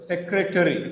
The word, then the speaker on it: secretary: But when we read this word, we read it as secretary. It is not secretary actually. It is secretary. Secretary. When we read like this, the number of syllables will be decreased to three. Se-cre-tree. Se-cre-tree. So it has only three syllables.